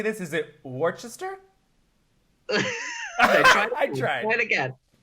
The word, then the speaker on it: Worcester: Is it Worcester? I tried. Try it again. Try it again. Worcester. Worcester, yeah. Worcester. I mean, it's spelled Worcestershire, but it's just Worcester.